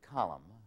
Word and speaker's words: column: me all morning, Howard, why is the letter N silent in the word column, but is pronounced in the word columnist?